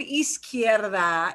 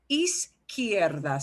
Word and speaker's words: izquierda: And that word izquierda is hard for a lot of people to pronounce. What a long word. Izquierda.